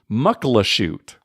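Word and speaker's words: Muckleshoot: I grew up there I also mispronounced the name for most of my life it's actually mukil oh shoot alright muxu muxu get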